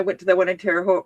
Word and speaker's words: Terre Haute: I think when I went to the one in Terre Haute Rhymes with Both, they gave us all a little baggie that had like 3 or 4 in it.